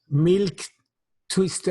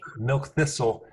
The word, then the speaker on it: milk thistle: Milk twister, I never pronounced correctly. Milk thistle, and that is very potent for the liver cells.